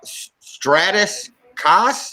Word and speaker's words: Stratis Kas: second guys let me introduce to you uh stratus cass am i pronouncing that right you know to the ability